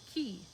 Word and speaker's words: QI: Jana introduces and explores 7 QI skills, pronounced key, like chi, I guess.